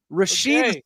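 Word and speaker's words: Rashee: Rashid Rice. This young man caused a 6-car pileup and ran away. Lucky for us, his name rhymes with flea.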